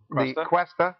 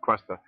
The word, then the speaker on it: Cuesta: Cuesta is a 13th century word. It's actually a French word, and in California we tend to pronounce it with more of a Latino accent, Cuesta, but it's quest, search,